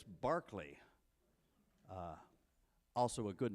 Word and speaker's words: Berkeley: you should know that it's not pronounced Berkeley unless it's up in Northern California uh in England it's Barkley uh also a good